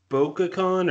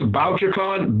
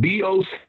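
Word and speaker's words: Bouchercon: What is that, BocaCon, or how do you spell that? It's BocherCon, BocherCon. It's named after a guy named Anthony Boucher, who in the 20s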